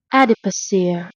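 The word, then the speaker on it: adipocere: The technical term of which is okay, I can't even pronounce this. A dip ochre adiposir.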